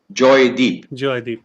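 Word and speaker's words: Joydip: my birth name is joy dip oh oh really yeah because that's how the punjabis pronounce it okay but the bengali pronunciation is actually joy deep yeah but my deep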